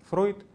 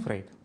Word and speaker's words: Фрейд: звали Зигмунд Фройд, но поскольку традиция состоит в произнесении этого имени в этой фамилии иначе, в русском языке это произносится Фрейд, то я буду именно так и говорить, вот, хотя на самом деле это был Фройд, конечно.